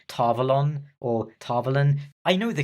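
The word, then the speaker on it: Tar Valon: considering how that character ends up number 34 tarvalen is rather disappointing to look at and yes you might be complaining about the way I'm pronouncing it and yes I know technically it's pronounced tavalon or tavolin I know the correct pronunciation I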